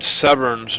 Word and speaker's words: Severns: It's actually Ted Severns, not Ted Stevens.